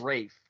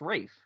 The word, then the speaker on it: Ralph: I thought it's Rafe. Rafe? R-A-Y-F? It's a combination between Ray and Ralph.